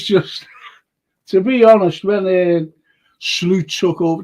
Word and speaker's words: Slot: to be honest when slute took over that's how you pronounce his name by the way slute slute the point is I